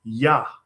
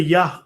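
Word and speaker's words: Iah: Yes, I-A-H. But if you consider, it would be pronounced something like Yah, right?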